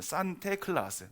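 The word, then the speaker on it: Sinterklaas: 산테클라스. 그러니까 네덜란드의 사람들의 발음으로는 산테클라스예요.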